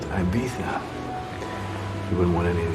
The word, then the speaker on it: Ibiza: It's pronounced Ibiza.